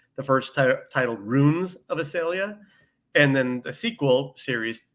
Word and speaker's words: Issalia: Issalia.